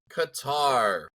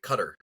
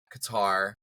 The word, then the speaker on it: Qatar: anyways predictions for Kar Qatar or as some weirdos say cutter um is interesting I heard a couple people that can't pronounce it so they could say cutter I don't know why